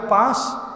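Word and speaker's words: push: জন্য কিন্তু ঢুকবার আগে পাশ ডোন্ট পাশ মানে পুশ সরি পুশ পাশ নয় উচ্চারণটা হবে পুশ পুশ মানে ধাক্কা দেওয়া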